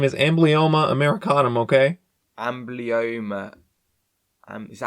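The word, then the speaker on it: Amblyomma americanum: Ambloma. Um, is that how I pronounce it? Amblyoma Americanum.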